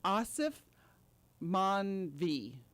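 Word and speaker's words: Aasif Mandvi: And I also like the other actor, which I had to really work on pronouncing his name. Yes. Asif Manvi.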